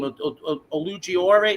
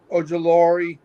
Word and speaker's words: Ojulari: Olugiore? How do you say his name? The guy from the Giants. Yeah, I was gonna say we got that kid. We don't know what he's gonna give us. Ojulari.